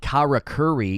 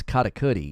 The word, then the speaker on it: karakuri: that's how it's pronounced it's not Kara Curry it's karakuri you're supposed to bounce off the the R's it's like a syncopated pronunciation basic katakuri it's not